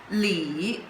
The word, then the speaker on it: 里: In this lesson we are going to learn this character, in Chinese simplified character it looks like this, and it pronounced as Li.